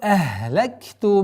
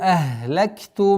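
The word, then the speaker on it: أهلكت: Якулу ахлакту малал лубада. Якулу, долгота в размере двух огласовок даммы. Якулу ахлакту. Ахлакту, нет, ахлакту. Полное произношение звука ха, гортанного звука.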